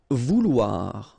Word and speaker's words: vouloir: Vouloir, okay, OU, OU, and then OI, OA, so vouloir, okay.